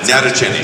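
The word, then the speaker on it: Sarah Natochenny: Yeah, I saw Sarah Nachacheni or whatever her name is. Natacheni? Is that how you say it? It's not your cheese. No, I'm teasing, guys. How do you say it for real? Natacheni. Natacheni.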